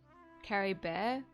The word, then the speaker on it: Caribert: least I still have Cory bear Carrie bear so you don't pronounce a t um what do you